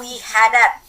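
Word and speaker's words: وحدات: Fa inna wihadat. Perhatikan ya, saya membacanya wihadat. Kalau dia satuan, nih di atas ya, wihdah, haknya mati. Wihdatun. Tapi kalau dijamakkan, haknya diberi harakat fathah.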